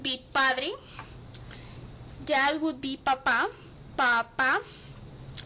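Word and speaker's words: papá: padre that would be papa papa you have put you have to put the accent on the last day otherwise it means potato daddy would be puppy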